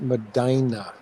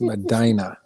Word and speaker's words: Medina: I had to find Medina.